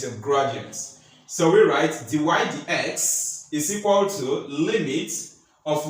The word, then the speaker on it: dy/dx: DX that is divided X that's how we pronounce it d y d x is equal to n and the proof has